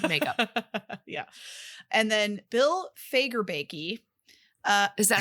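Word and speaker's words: Fagerbakke: sponsor special effects makeup yeah and then Bill fager baky uh is that how you say it yes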